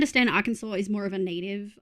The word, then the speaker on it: Arkansas: Arkansas, pronounced Arkansas, was named for the French plural of the Native American tribe Kansas.